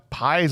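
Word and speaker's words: Pais: I went with Josh pies I think is how you say it like size but with a p a guy played Raphael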